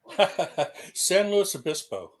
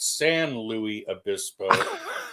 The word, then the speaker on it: San Luis Obispo: And God help you if you make the mistake of calling it San Louis Abyspo because they will string you up and hang you from the yard if you even come close to that. They're very particular about the pronunciation there.